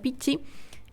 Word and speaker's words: Pichi: Entonces, María Pichi, una genia. Yo creo que se pronuncia Pichi porque es doble C el apellido.